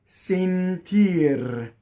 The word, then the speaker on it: sentir: The accent is on the E vowel, right? So the E is closed.